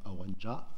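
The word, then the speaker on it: Aurenja: A en graphie occitane, et qui se prononce également Aorenja, parce qu'il y a quelques endroits où le A final se prononce en Occitanie.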